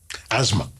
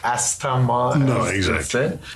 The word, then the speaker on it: asthma: from yes and what about a s t h m a asthma yeah so asthma and not a said and e p i